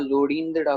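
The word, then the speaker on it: ਲੋੜੀਂਦੜਾ: जी हाँ, लोड़ींदड़ा पढ़ा जाएगा, बिल्कुल बिंदी लगेगी, हल्की सी बिंदी के उच्चारण का हो जाती है, ठीक है, लोड़ींदड़ा।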